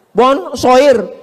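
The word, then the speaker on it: bonsoir: Bacanya bonjou. Bon sair, bonsa.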